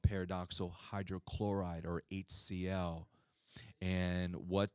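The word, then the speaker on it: pyridoxal: is we're using this long sounding name it's pronounced paradoxal 5 phosphate or we just simply call p5p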